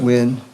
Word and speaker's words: Nguyen: Judge, the next one I have is Wynn, but it's pronounced it. Wynn.